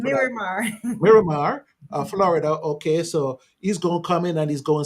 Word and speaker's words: Miramar: Maramar Florida yeah you give me the proper pronunciation mirar Miramar Florida okay so he's going to come in